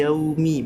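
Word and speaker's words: يوم: tapi yau yau kar suara i bukan Yao jadi Maliki yaumi bukan Ma bukan Mal ya ya Jadi ya ya harusnya yau bukan ya terus ya terus Med jadi Med Nah harus Mi middi ya gitu ya Nah terus juga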